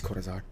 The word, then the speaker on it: Cortazar: And the YouTuber that got me into this game, Cordazar, Cartazar, however you pronounce it, it's Cortazar, uh, recently made a